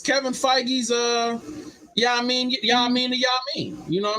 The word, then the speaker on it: Feige: So no, I didn't know how to pronounce it when I first saw his name, so I was calling him Kevin Phage. Right. All right. In the Marvel Studios, Kevin Feige.